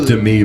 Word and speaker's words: Demi: director Darren Arski I believe his name is pronounced but uh no the substance Demi Moore and I'm not sure it's Dei by the way Demi Dei